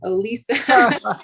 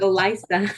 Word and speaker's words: Olisa: I thought it was just so that people can pronounce it Olisa instead of Elisa.